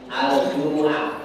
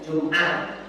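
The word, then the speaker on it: الجمعة: Bacanya gitu Pak, jangan dibaca bahasa Arab, jangan dibaca pakai bahasa Jawa. Surat apa? Kamu mau baca surat apa? Surah Al-Jumu'ah. Surat Al-Jumu'ah, jangan Jum'ah. Mimnya mum, bukan Jum'ah.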